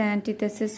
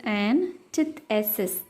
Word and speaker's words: antithesis: Love is the antithesis of selfishness. Here, a person or thing that is the direct opposite of someone or something else. It is pronounced as antithesis. Tith is pronounced much stressfully. Antithesis.